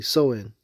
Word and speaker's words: Samhain: of it the origins the true holiday name is actually soin and it's spelled Sam Hayne but so is the origins of of this everything has a specific meaning.